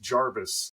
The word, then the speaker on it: Jervis: I'm pretty sure that his name was often pronounced Jarvis at the time, like as if it had an A. In fact, sometimes it was spelled that way. It's hard to figure out how things are pronounced in the 18th century because there are recordings of what they said, but we think it might have been Jarvis.